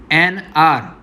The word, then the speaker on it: hour: See here it is said NR. Okay, the spelling is HOUR. तो हम HOUR को हवर नहीं बोलते, उन्हें हम क्या बोलते हैं? R बोलते हैं. Okay, because H is silent.